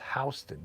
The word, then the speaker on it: Houston: It's like in New York City, there's a street called Houston Street, and it's spelled Houston, but it's pronounced Houston.